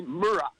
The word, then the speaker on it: Murrah: I just want to enhance your talk about the Oklahoma bombing, because you mispronounced the building's name was Walter P. Murrah, Murrah.